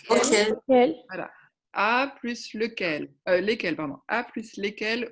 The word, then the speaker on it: lequel: Avec Lequel? lequel. Voilà. Lequel. Et c'est là qu'il faut bien prononcer le, hein, parce que si Lequel. entre les deux, on ne sait pas si c'est Lequel. singulier ou pluriel.